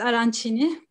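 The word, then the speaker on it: arancini: ben aracın yemeğini anlatacağım şimdi araç için evet arançini diye okunuyormuş yeni öğrendim resimde dikey şekilde konumlanmış bir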